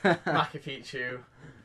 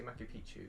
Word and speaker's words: Machu Picchu: But yeah, you gotta say it right though. You can't say Machu Picchu, it'll be Machu Picchu.